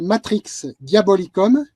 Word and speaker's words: Matrix Diabolicum: Il s'appelle Matrix Diabolicum. Comme ça se prononce, et vous le trouvez sur Amazon. Vous Il est... tapez dans Google Matrix Diabolicum, C-U-M, comme en latin, et vous tombez sur